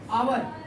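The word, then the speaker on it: hour: लिखा क्या आइए ववर हावर नहीं ववर पढ़ते हैं क्या पढ़ते हैं आवर प्रोनाउंस जब करोगे तो ए चज द साइलेंट वर्ड रहेगा सर ए रहेगा एच क्या है अभी भी गलत है एच क्या है साइलेंट है आवर है दो लीटर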